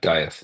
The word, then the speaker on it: Dieth: Is it pronounced Death or Death or Dieth, yeah, Dieth, yeah.